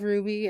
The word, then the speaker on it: RWBY: Ruby it was oh have you heard of rwb why it's pronounced Ruby it's by a group that did red vs.